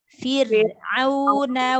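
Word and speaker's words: فرعون: Roknya ditipiskan. Rok sukun sebelumnya kasroh. Roknya dibaca tipis. Fir. Fir. Fir'auna wa Samud.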